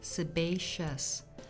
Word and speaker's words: sebaceous: Sebaceous glands, pronounced sebaceous.